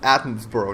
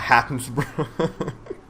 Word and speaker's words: Attenborough: pronounce his name properly it's Athens borough not happens anyway it's all part